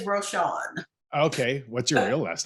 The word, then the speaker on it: Rochon: my real last name the fake one is roshawn okay what's your real